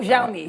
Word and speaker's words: Xiaomi: I'm probably going to butcher this zi oh xiaomi xiaomi I think sh pronounces it pretty well yeah I think I think it's xiaomi xiaomi this is the uh Apple of China